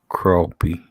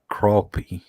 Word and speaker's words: crappie: Crappie. Oh, man. See, it ain't spelled like that. I could see you saying it like that. Crappie.